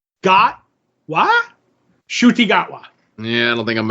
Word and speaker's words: Ncuti Gatwa: And this is how you pronounce his name. I don't know if you'll ever remember it, but I have it down now. It's Ncuti Gatwa.